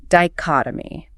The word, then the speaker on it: dichotomy: Next noun, dichotomy. Diotomy. Stress on the second syllable, third one's a schwa.